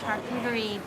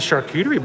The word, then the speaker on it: charcuterie: a california cheese and charcuterie board i've been informed that i'm that i am with a lot of other people mispronounced charcuterie really but that's not the way the french actually pronounce it i don't i